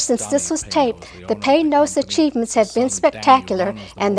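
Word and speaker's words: Panoz: And we were taught that by Panos. It's P-A-Y-N-O-Z is the correct pronunciation, but the spelling is P-A-N-O-Z.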